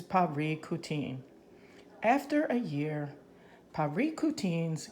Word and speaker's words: Parícutin: we pronounce that again let's look pronunciation paprika teen so this word is paprika teen after a year Perico